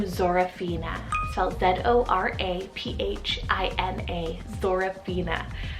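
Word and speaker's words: Zoraphina: girls side it's the name zorofina cell z-o-r-a-p-h-i-n-a sorophena how gorgeous is that and it means white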